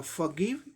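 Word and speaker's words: forgive: तो इसका उच्चारण होगा या फॉरगिव या फॉरगिव, र होगा, थोड़ा सप्रेस्ड करके बोलना पड़ता है।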